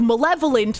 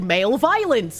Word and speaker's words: malevolent: Which is how I would end up pronouncing some things like malevolent, like male violence, you know?